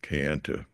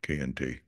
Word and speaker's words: Kayenta: Uh, uh, Today it's pronounced Kayenta pretty much, but I'm going to go with the old pronunciation, K&T.